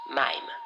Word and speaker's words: Mhyme: irene est atteinte du syndrome de mine se prononcent mayme qui est le syndrome